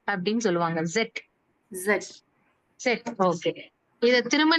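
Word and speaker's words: Zett: அப்சிலான் இல்ல எப்சிலான் எப்சிலான் நம்ம வந்து இட் ன்னு சொல்லுவோம் அவங்க ஜெட் அப்படின்னு சொல்லுவாங்க ஜெட் ஜெட் ஜெட் ஓகே இத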